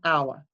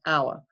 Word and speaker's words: hour: one would be an hour but even though there's an H there we don't pronounce the h we don't say an how we say an hour which is why it's